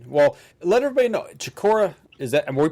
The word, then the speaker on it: Chicora: Chicora, is that? Am we pronouncing that right?